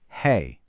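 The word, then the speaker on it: है: Listen, the singular is hey, nice and clean.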